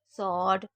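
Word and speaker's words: sword: जैसे answer, स्वॉर्ड, to. Answer यानी कि जवाब, स्वॉर्ड यानी कि तलवार और टू यानी कि 2। तो यहाँ पर आपको डब्ल्यू को साइलेंट रखना है, ठीक है?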